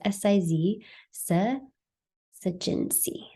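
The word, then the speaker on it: syzygy: that there is a siginsi and I know it's a really fun little word so I have the pronunciation on the bottom of the slides you can see it as Siz SE jinsi so it's basically the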